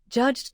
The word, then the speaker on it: judged: Another trap is judged. The base ends with a voiced J sound written with DG. Because that sound vibrates, judged takes the D ending.